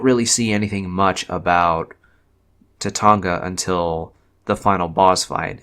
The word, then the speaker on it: Tatanga: the evil space alien Tatanga. And yes, the name is pronounced that way, so that's why I'm saying it like that. Tatanga was only mentioned as